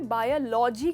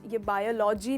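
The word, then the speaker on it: biology: ये हमने बायोलॉजी कहा है हमेशा, राइट? ये बायोलॉजी नहीं है, इसका करेक्ट प्रोनाउंसिएशन है बायोलॉजी। तो इसमें आप स्ट्रेस करते हो ओ पर, ना कि ल पर।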